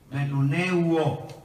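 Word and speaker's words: μνημονεύω: Él usó la palabra para los griegos acordaos, pero la palabra esta palabra para los griegos significa, se escribe M-N-E-M-U-N-E-U-O, que significa menuneu, no, uo, menuneuo.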